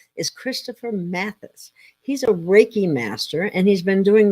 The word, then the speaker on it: reiki: and the purpose of it sure well um raiki it's it has Japanese Origins and basically raiki